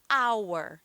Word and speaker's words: hour: No caso da palavra hora em inglês, hour, tá? Então, aí o som não aparece.